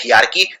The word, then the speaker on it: hierarchy: है में HIE है, HY नहीं है हेरारकी, तो HIERARCHY, इसको बोलते हैं हियारकी, लिखते हैं हेरारकी।